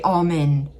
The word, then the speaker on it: almond: So I say almond. It's kind of like saying a l m i n.